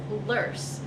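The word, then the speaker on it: loess: about it here and is lurce so l-o-e-s-s it kind of has a lure um pronunciation it's a german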